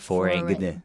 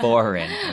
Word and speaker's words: foreign: And don't forget, foreign, we don't pronounce that G, okay? It's not foreign. Okay, it's foreign.